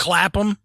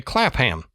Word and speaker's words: Clapham: And man, I had to look that up cuz it's Clappam. Yeah, it's spelled like clapham. And to my American sensibilities, I would say clapham, but I know that's not the way that it's pronounced in the UK.